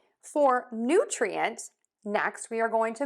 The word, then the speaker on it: nutrient: New, new. Yes, it's just like the word new. For nutrient, next we are going to move to the tree syllable.